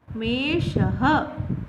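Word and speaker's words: मेषः: These 2 dots is called Visarg and it is pronounced as Ha. Meshaha.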